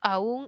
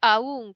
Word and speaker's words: aún: variedad debo decir No que los peruanos decimos aún en un caso y aún en el otro caso o sea igual lo pronunciamos pero de manera estándar o sea viendo a todas las variedades de la lengua unos dicen la primera aún como y acentual y la otra la dicen a como un diptongo Aunque en nuestra variedad